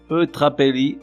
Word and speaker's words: eutrapélie: Prenons le téléphérique jusqu'aux cimes immaculées, puis braquons le télescope sur les mots eutrapélie, antienne, équanimité, ignée et jaculatoire. Eutrapélie, plus ou moins comme ça se prononce avec un « et » avant le « l », nom féminin.